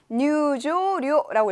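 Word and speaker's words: 入場料: 입장료를 어떻게 읽을까요? 뉴조료라고 읽죠. 뉴조료라고 읽습니다.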